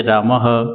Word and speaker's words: रामः: विसर्ग का उच्चारण ह के समान होता है, जैसे रामः देवः।